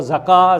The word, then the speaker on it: Zakat: And Zakat, or Zakah as is sometimes pronounced, is a charity that